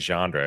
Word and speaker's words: genre: You put a D in it, bro.